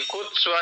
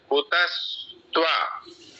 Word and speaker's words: कुतस्त्वा: कुत्स्वा नहीं है, तय पूरा है। कुतस्त्वा।